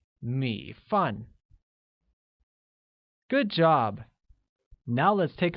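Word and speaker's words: 米饭: Rice translates to 米饭, which has a falling rising tone on I and a falling tone on A, making it 米饭.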